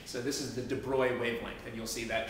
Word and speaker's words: de Broglie: I'm pronouncing it right it doesn't look like it's pronounced Roy but I think that's the pronunciation so this is the de bruy wavelength and you'll see